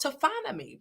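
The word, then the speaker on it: taphonomy: I kept hitting that voice how do I pronounce this word to finally so so so the science that studies decomposition is called tophonomy and tophonomy comes from this Greek word tapos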